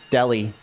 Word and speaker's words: Delhi: Maybe I was thinking Sounds like you're saying deli. That is what Yeah, but that's how you pronounce it. Delhi.